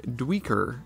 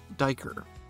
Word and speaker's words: duiker: common name from its secretive nature the name diker is Dutch in origin and is derived from the word meaning diver so while it might look like dweeker it's actually pronounced diker we remember this by remembering their excellent divers